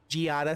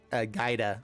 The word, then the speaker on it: Giada: We were able to exile the Giada. Sorry, that's why I keep saying it wrong. In my mind, it looks like Gaida, but I've been told that it's not.